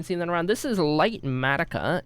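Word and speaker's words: Litematica: This is light matica. It's spelled L I T E M A T I C A.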